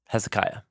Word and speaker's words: Hezekiah: a descendant of David named Kahu yahweh's strong Hezekiah that's how we say his name okay and